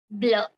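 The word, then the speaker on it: bleu: color comes is the blue which is pronounced as blur BL BL now for the feminine it will be b l e u e it will take an an extra e at the end to make it feminine blur the pronunciation Remains the Same Again now for making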